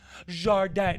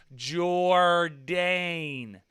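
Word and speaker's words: Jourdain: name really is uh people try to go like oh are you paul jordan jardin no i'm not french i'm american say it like jordan or they'll say oh are you paul jordan no it's j o u r d a i n jordan so i was like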